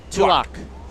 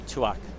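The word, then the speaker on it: Tuach: a Pilates instructor and my Aussie pronunciation as well tuak Chelsea tuak got to take the SE out I think our coach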